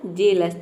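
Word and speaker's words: jealous: मतलब होता है स्वर्ग तो हेल्थ हेवन और जेलस इन तीनों वर्ड में हम ई ए को ए प्रोनाउंस कर रहे हैं अब यहां पे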